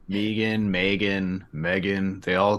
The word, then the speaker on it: M3GAN: with this movie Megan M3 G yeah it is how I've heard it pronounced Megan Megan Megan they all